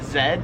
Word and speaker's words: Z: So I pronounce it Z as I just said but in Australia they pronounce it zed.